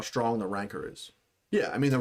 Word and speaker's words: Rancor: Who's saying it right? Rancor? Rancor. Rancor. That's how Fennec pronounced it.